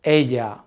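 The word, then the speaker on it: ella: going to to be Aya and be careful with this last one because even though it has two L's it's pronounced Aya can you say it with me perfect Aya great let's move on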